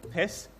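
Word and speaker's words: PySS: I wasn't sure how to pronounce it until I got there, but they confirmed that it is actually PISS.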